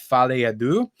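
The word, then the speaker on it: Folie à Deux: I think it's pronounced Fale Adu.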